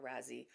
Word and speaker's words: Raasay: I think it's pronounced Raasay, not Raasay. I've heard natives of the island or people who work on the island call it Raasay, so I'm going to call it Raasay.